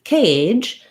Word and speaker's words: cage: and then we have the word cage again our c says but here our letter a says the a diphthong so in this case in american english a is glide between two sounds we move from a tense e to a relaxed if we close the mouth and relax the tongue as we go a for most people just